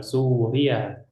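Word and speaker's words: سوريا: yang ini Suriah n Suria cara bacanya Bagaimana ulangi su Suria ynya jangan bertasdid Suria Suria Naam Suria seperti itu ya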